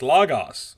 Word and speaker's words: Logos: Is it Logos? It's Logos. Let's throw that out there before the callers call in, even though there's no callers today. Yeah, It's yeah. Logos.